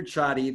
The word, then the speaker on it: Csathy: way like that so my name is peter chotti that's the way it's pronounced again it's creative media